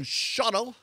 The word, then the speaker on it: Shawano: Jim Allball up there in Shawano, or as they say locally, Shawano. No, they don't. That's how it's spelled. It looks like Shawano, but it's pronounced Shawano.